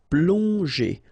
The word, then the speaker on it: plonger: got these two letters, so pl together, on, plong, and then g and normally that's the sound j. Okay, so here you get, obviously, as usual, the ending er, so you pronounce it e. So plonger, plonger.